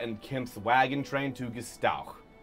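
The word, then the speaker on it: Gstowq: Kimp's wagon train to Gestauch. Spell that? G-S-T-O-W-Q. Absolutely not. The Q is the ch sound in Orcish.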